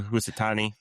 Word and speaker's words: Hisatsune: So we got Ryo Hisatsune. How do you say it? Hisatsune.